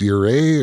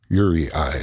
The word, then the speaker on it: UREI: if i'm wrong i believed that it's not pronounced your a or yuri or uri but it is pronounced u-r-e-i or yuri i at the very worst that's because it stands